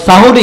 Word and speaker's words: সাহারি: এই যে নির্দিষ্ট সময়ে সাহরি খেতে ওঠা আমরা বলি সেহরি না উচ্চারণটা কিন্তু ভুল সেহরি মানে জাদু উচ্চারণ হবে সাহারি সাহারি খেতে ওঠা নামাজ